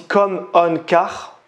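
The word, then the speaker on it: ComOnCar: Donc Auto, ça s'écrit O-T-O et ComCom à la suite. On a aussi Com-On-Car.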